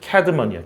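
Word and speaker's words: Cædmon: 이게 원래 영어 철자에 있었던 거야, 옛날에. 옛날 영어에. 근데 이게 발음기로만 남았잖아, 지금. 우리나라로 애자야, 애자. 발음기가 애자잖아, 이게. 알겠어요? 뭐라고 이거? 캐드먼이야, 캐드먼.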